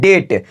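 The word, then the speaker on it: debt: है ध्यान से suniyega टी से पहले आया बी हमारा साइलेंट होता है देखिए जैसे में यहां पर है डिप्ड क्या है डेप्थ इनका आएंगे तो याद रखिएगा ये गलत हो जाएगा इसको कहते हैं डेट क्या कहते हैं डेट क्यों क्योंकि यहां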